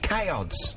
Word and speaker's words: CAODS: is that Kay how do you say CHS chods I like it and you've got you you